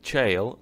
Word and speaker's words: gaol: okay fun fact uh Gil or well you pronounce it jail is an old word